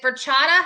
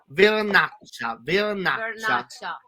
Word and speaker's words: Vernaccia: How do we get is it Verchata? How do you say the wine? Verchata wine? This kind of wine is this one Vernaccia.